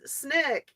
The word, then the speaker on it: SNCC: s the student non-violent Coordinating Committee pronounce Nick Essen Snick used photography to show